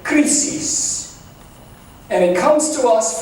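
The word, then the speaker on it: κρίσις: This word in ancient Greek would have been pronounced something like krisis.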